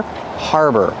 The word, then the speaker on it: harbor: Harbor, pronunciation. Use the R sound like far and car, har. And the second syllable is like burger. Together, harbor. This is a harbor.